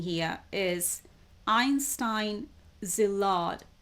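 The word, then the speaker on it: Szilard: few ways Einstein now I don't know how to pronounce this name s z i l a r d Zill right um I apologize for not being able to pronounce this name or shall I try and see if I can find the audio pronunciation for that okay I've just checked the audio pronunciation I think it's pronounced as zad now what are they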